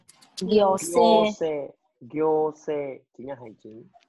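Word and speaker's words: 行政: Chữ này bình thường đọc là cô đúng không? Trong từ này không đọc là cô đâu nhá. Nó đọc khác gì ạ? Đọc là gyo. Gyose.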